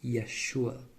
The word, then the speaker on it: Yeshua: And same thing in Hebrew, this first letter, it's Y. It's like a Y sound. And it's the first letter of Jesus' name in Hebrew. That's why we call him Yeshua.